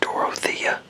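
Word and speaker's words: Dorothea: So it's pronounced Dorothia cuz that's how it's D O R O T H E A. Dorotha. So I don't Yeah. Dorothia.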